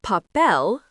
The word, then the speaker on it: papel: The word papel, pronounced pa-pel, means paper.